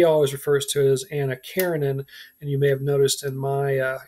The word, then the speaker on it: Karenin: is focused on anna karenin um he says by the way that the original translators of that novel got the name wrong there should be no a on the end of karenine and i i think